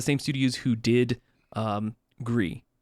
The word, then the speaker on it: Gris: Studios who did um grie or Greece griss however you want to pronounce that name there's like it's Gris um and it's basically on